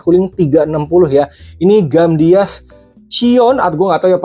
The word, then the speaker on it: Chione: Ini Gamdias Cion, atau gue nggak tahu ya pronunciasi apa, Cion atau Ciwan. Harusnya sih Ciwan ya.